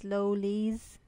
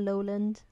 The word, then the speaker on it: Lolis: Guys, I wasn't going to say anything, but it's Lolis, not Lowland.